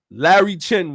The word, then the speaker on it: Larry Chen: called support violent driving it's hilarious Japanese guy Larry Chen was what is that is that how you